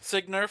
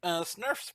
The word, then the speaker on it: sgnurf: Signurf? G silent. Snurf? G is silent. Yeah. Snurf.